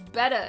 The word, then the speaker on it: Better Blocks: That's right, it's Betta and not Better. Or at least they pronounce it that way in the commercial, but it's not spelled that way.